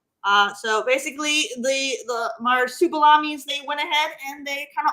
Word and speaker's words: Marsupilami: How do you So, spell Superlami again? so it's like marsupial. So marsupilami. Marsupilami.